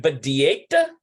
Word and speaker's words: בדיאטה: How do we pronounce that? We need an aleph there, don't we? Okay. האם סוזי בדיאטה? It's like badieta. האם סוזי בדיאטה? Haim Susie badieta.